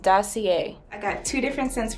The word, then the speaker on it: Dossier: please excuse my ignorance it is pronounced dossier i got two different